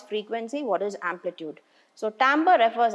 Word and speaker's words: timbre: We pronounce it as timbre.